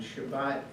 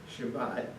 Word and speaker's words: Shabbat: Shabbat, and I have to say that I'm a stutterer, and Shabbat is very hard for me to say because it begins and it ends with accented syllables.